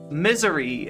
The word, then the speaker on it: Missouri: It's pronounced misery.